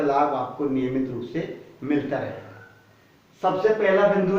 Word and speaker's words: simile: ताकि सभी वीडियोज का लाभ आपको नियमित रूप से मिलता रहे।